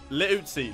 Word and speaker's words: Liuzzi: So his name from now on will be Liuzzi. Liuzzi, that's how you say it.